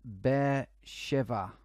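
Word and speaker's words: Be'er Sheva: outside the negev Museum of Art apparently it's pronounced bear shiver okay that's cool yeah like that look at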